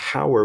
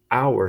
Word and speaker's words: hour: This word, hour, okay, even though it has an H in front of it, okay, we don't say hour, we say hour. So the H is silent.